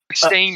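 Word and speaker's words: Berenstain: up berenstein bears uh stain rather sorry it's stain it's stain okay because it's spelt stain and they will be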